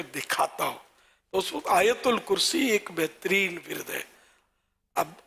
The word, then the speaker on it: آیت الکرسی: اچھا وہ ہے آیت الکرسی، آیت ال، اس میں لوگ اس کو بھی آیتل یا آیتل ہے نا، آیتل کرسی، آتل کرسی، یوں بھی لوگ بول دیتے ہیں. تو اصل تلفظ ہے آیت الکرسی.